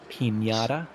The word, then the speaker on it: Pinata: Well, Matty lads, Pinata is the correct pronunciation.